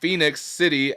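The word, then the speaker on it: Phenix City: assuming this is pronounced phoenix city alabama monster trucks with a z but there's no o it's just p-h-e-n-i-x i'm assuming it's pronounced phoenix and then we got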